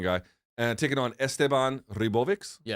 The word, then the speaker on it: Ribovics: and taking on Esteban Ribovics. Yeah. How do you say it? Is that how you say it? Ribovic, I think, is because he's Argentinian. Oh, so it's a ch sound at the end?